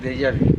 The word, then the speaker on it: déjà vu: Pero es una pronunciación difícil, déjà vu, porque es la U famosa francesa, que a veces es más difícil de decir.